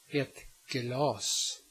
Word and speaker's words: glas: Now comes the consonant K. In front of a hard vowel or a consonant, or inside a word, it is pronounced k.